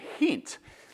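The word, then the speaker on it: Gent: One's Genk, and one, or they pronounce it as Henk and Hent.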